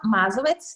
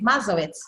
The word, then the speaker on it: Mazovec: And did I get your pronunciation right of Mazowek? Yes, yes, I'm Mazovec. Yes, Mazovec. It's a Slovene surname.